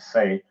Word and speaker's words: Sais: about atlantis talking about the priests of sais some people pronounce it say but there's been an